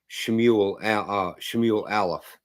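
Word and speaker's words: שמואל א׳: After we get done with Judges, we'll be going into First Samuel, Shmuel Shmuel Aleph, is how you say that in Hebrew.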